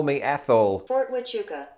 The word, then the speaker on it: Huachuca: Fort Huachuca. No way! There's a silent H in it.